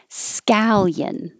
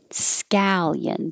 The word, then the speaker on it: scallion: Scallion, also known as green onion. Scallion. The vowel is a. Scal.